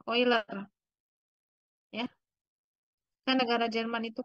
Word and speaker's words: Euler: ya euler tadi ya Tapi bacanya bukan yer ya Jadi ini nama orang juga ini ini nama orang mungkin Jerman ya karena dalam Jerman itu EU itu dibaca oi oiler ya kan negara Jerman